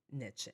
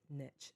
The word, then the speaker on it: niche: Maybe I haven't quite found what my what my niche is, right? Maybe I haven't quite niche niche niche. It can be pronounced both ways, I believe.